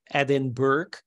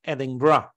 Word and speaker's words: Edinburgh: especially as being Dutch, I thought it was Edinburgh, but apparently you pronounce it like Edinburgh.